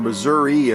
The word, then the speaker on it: Missouri: owner machine from a collector out in missouri or missouri as some people pronounce it so we'll see how